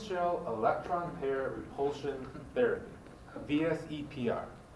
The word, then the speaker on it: VSEPR: A lot of people call it VESPR because it's very hard to pronounce that. Okay? So people just kind of reverse the E and the S and call it VESPR. Okay? The more correct way is called VSEPR therapy.